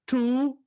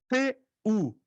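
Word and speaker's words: τοῦ: tu seu tu teu Olha só tu tão percebendo tu tu t u tu como fosse o pronome tu o eu estou vendo aí Ó o omicron e o yon então pronuncia como u não t tu não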